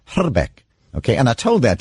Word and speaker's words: Hrbek: remember him yes exactly I speak a little bit of Czech and actual correct pronunciation of his name is hotter Beck okay and I told